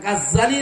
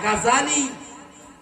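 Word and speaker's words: غزالي: এই উচ্চারণটা ভুল, এটা গাজ্জালি না, গাজালি।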